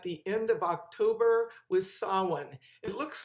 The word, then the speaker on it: Samhain: an american form of the gaelic which should be said as saw when or saw wien and that happens on